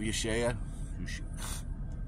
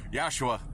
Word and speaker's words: Yahshua: I love Yeshua. Sorry, I mispronounced that one again. Yahshua, again. For those who prefer Jesus, Yahweh, Jehovah.